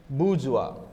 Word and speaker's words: bourgeois: i s I so this is pronounced as wa okay so Karl Marx